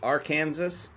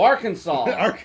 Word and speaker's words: Arkansas: did you know that it is illegal to mispronounce the name of the state R Kansas R Kansas ar oh Arkansas Arkansas it's yes illegal to mispronounce the name